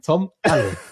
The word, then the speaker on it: Tom Ale: Or you put his two names together in tamale. I mean, tamale. Tamale. Hot tamale. And that's exactly how you say his name, Ale. I mean, I don't think you'd ever do a say my name for a guy who's got like 3 letters in his first name and then 3 letters in his surname, but there you go. Tom Ale. Not LA.